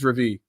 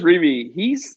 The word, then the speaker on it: Reavie: Is Ches Reavie. Do I say his name right? Reavie? Ches Reavie.